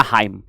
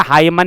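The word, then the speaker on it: hymn: में आ रहा है तो आपको प्रोनाउंसिएशन इसका बिल्कुल सही करना है यानी कि हाईम बोलना है ठीक है हाईमन नहीं करना है ठीक है जी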